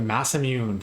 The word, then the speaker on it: Masamune: Then we got the Masamune. Good hit here. Very nice. So I know it's pronounced Masamune uh properly. Um but I call it the Massamune uh from the Chrome days when I was younger.